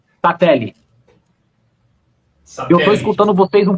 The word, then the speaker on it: Sattler: William, a pronúncia está correta? É Sattler? Sattler.